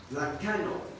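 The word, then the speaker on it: λαγχάνω: que se traduce suerte la Canon es más bien la calor es la ch Perdón Es como si dijéramos la Chano se pronuncia lacano Y esta es una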